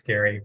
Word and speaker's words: Gary: It's spelled like it should be Gerry, but it's Gary, but I'll answer to either.